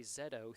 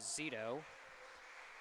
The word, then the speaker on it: Zeto: me on my pronunciation i'd been calling him corey zedo throughout the year but the correct pronunciation is zeto so nice to have